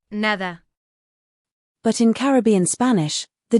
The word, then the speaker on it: nada: Finally, one subtle but important phonetic detail is the pronunciation of D between vowels. In both dialects, it tends to soften to De, like in nada becoming, nada.